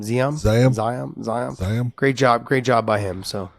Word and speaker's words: Ziam: Ziam.